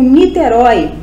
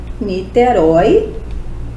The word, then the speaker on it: Niterói: exemplo uma palavra combo Niterói Niterói é uma palavra oxítona termina em o e que é aberto continua com acento por ser oxítona a palavra céu monossílaba